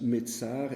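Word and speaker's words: מצר: Ça vient d'un mot qui se prononce Metzar et qui veut dire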